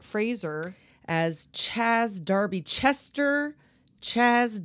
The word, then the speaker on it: Fraser: Fraser yes Adam Sandler you have to pronounce it Fraser as Chaz Darby Chester